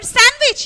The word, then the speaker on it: sandwich: be asylum and your sandwich yeah you all like it very well isn't it sandwich sandwich also d is silent and handsome handsome noddy